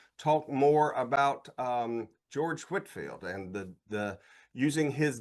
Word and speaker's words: Whitefield: Well, the first lesson anytime we talk about Whitfield is we have to figure out how to pronounce his name, right? You know, I mean, you can probably tell whether somebody doesn't know if they call him Whitefield.